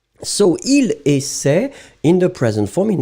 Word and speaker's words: essaie: Normally, you don't pronounce essaye. It's not really nice. I mean, you can hear it. It's just like payer, il paye. But normally, it should be pronounced il paie. So, il essaie in the present form.